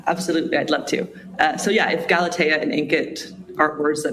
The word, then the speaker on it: Galatea: Or is it pronounced Galatea? Yeah, Galatea.